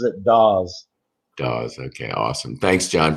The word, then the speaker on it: Dawes: uh be talking to john is it pronounced it's however you want to say it but yeah the family pronounces it does does okay awesome thanks john for being here